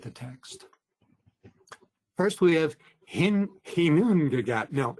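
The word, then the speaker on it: Ginnungagap: The other day I was walking around the house saying Gnungagap, Gnungagap, only to discover that it's actually Hinungagap.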